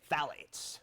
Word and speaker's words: phthalates: That's how you say it, phthalates.